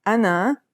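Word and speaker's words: أنا: They are the letters you need to form the word ana, meaning the pronoun I.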